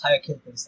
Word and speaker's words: Hyacinthus: It's Hyacinthus or Hyacinthus, but however you want to say it. It's Hyacinthus.